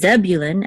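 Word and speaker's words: Zebulun: of Yi Sahar and in English it's zebulin accident on the first syllable but in Hebrew it's the volume Accent on the last syllable and also with Benjamin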